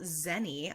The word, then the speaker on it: Xeni: be discussing the novel zeni by Rebecca Wetherspoon did you pronounce it as any like when you were reading it yeah okay like Jenny but like with an axe but I also knew